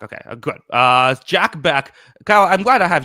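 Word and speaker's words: Bech: Is it Beck or what is it? I think it's Beck. Yeah. Beck. Okay, good. Jack Beck.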